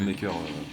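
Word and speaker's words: Unmaykr: par contre ça s'écrit pas pareil, c'est une sorte de jeu de mots en anglais en fait, ça s'écrit UN et MKYR je crois, un truc comme ça. Mais bon en fait il le Ah oui, prononce oui. Unmaker.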